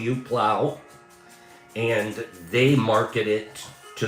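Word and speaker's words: Phlow: It's spelled P H L O W. Plow.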